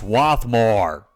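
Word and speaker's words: Swarthmore: automated message system that occasionally pronounces the name of stations wrong it's swathmore however these minor annoyances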